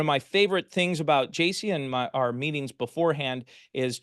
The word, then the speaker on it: Jaci: It's pronounced Jaci. If you got it wrong or thought it was Jackie, that's my parents' fault, not yours.